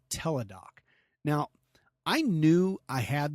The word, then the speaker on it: Teladoc: you about an app this app is called tedoc now I knew I had this I think